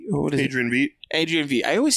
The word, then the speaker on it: Adrian Veidt: Adrian Vendi? What is Adrian Veidt. Adrian Veidt. I always say his name wrong.